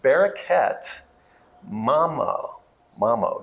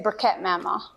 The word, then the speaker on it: Bereket Mamo: We are excited to have Bereket, Mamo. Did I say it right? Yes. Say it for us. You can say Bereket Mamo.